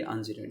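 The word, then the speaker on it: ungerade: है ना, जीरेड और अनजीरेड के अकॉर्डिंग। दोनों ही जर्मन वर्ड हैं, इसलिए यहाँ पर इनका प्रोनाउंसिएशन थोड़ा सा अलग मतलब इस तरह का है कि ये जीरेड है, ये अनजीरेड है।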